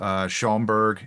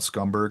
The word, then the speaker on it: Schaumburg: so, there's a wonderful convention in September in Schaumburg, Illinois. I think I pronounced it properly. I usually call it Scumberg, and it makes everybody really mad.